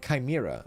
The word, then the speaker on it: Kaima: enjoy a good tale pronounce kaima like Chima is that how it is kaima there you go I'll